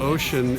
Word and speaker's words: Oschin: then this is the Samuel how do you pronounce it oh yeah Samuel ocean is a guy that donated a lot of